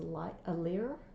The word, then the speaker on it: lyre: Okay, and the strings are, I believe Mel said it's pronounced as a lyre, L-Y-R-E.